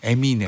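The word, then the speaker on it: Eminem: 에미넴이라고 하신 것 같아요. 에미넴. 에미넴. 네, 에미넴이라고 정확히 발음.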